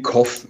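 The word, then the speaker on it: Cobh: WUs ich jetzt nicht also K wird wie Koff es wird Koff ausgesprochen ja so wie Husten du sollst mal koffen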